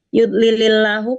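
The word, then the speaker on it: يُضْلِلِ اللَّهُ: Yudlilillahu kenapa lillah? Tidak lillah. Itu apa? Lamnya lam Tarkik ya. Iya, lamnya lam tarkik ya. Jadi dibaca tarkik tipis itu ya karena huruf sebelum lamnya harokatnya kasroh.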